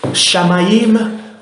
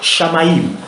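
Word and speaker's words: Shamayim: Shamaïm, ça s'écrit S-H-A-M-A-Y-I-M. Je le répète, Shamaïm.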